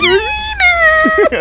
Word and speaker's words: Keanu Reeves: Is that actually how you pronounce his name? Keanu Reeves. It's Keanu Reeves.